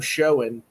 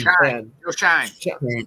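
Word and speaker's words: Schoen: Is it enough for GM showing and is that how you say his name? Is it showing? I think it's showing Shine.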